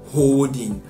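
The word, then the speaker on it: HODLing: Now this is called holding, right? And it's not spelled the conventional way, it's spelled H-O-D-L-I-N-G.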